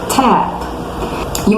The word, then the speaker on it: tape: para vocês aprenderem é, quando uma palavra ela termina com a letra E, que vem logo depois de uma consoante, ela é uma vogal surda, a gente não pronuncia, a gente para na consoante.